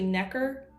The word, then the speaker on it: Necker: And I even said it wrong because it's Necker, and that was just more of a dyslexic moment. So it's actually Necker.